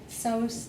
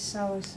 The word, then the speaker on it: psoas: And the iliacus and the psoas muscles, I'll give you a clue. Yeah. Iliopsoas, the iliacus and the psoas, it's spelled Psoas.